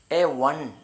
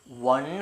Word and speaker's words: one: ഒ എൻ ഇ വൺ എന്നാണ് ഉച്ചരിക്കുക.